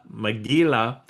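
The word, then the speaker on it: מגילה: Uh but it's uh it the the Hebrew word is mgila. And um um and it's spelled kind of like McGill the gorilla uh from the cartoon days, but Maggila and it is it's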